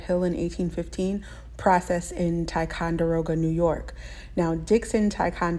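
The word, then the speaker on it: Ticonderoga: discovered on Lead Hill in 1815 processed in taond deroga New York now Dixon taond deroga is based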